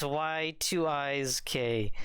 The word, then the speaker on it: YIIK: Anyways, so we're gonna be playing a game called YIIK, a postmodern RPG, affectionately titled YIIK if you say it how it's spelled. It's Y2IK.